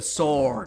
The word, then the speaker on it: sword: is pretty weird okay you just don't pronounce the w it's a sword what it's a sword